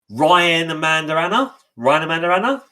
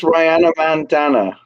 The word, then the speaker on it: Rihanna Mandana: But Ryan Amanda Anna? Am I saying this right, guys? I think it's Rihanna Mandana, like it rhymes with bandana.